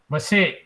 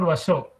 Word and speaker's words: Vashe: Vashe. Vashe. Because Vashe. it's written in my book also Vashe, here also it's written as Vashe. It's not Vasho, it is Vashe.